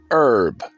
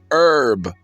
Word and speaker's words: herb: Ladies and gentlemen, I don't listen to podcasts because, peaches, and ladies and gentlemen, it's herb, not herb, herb. The H is silent.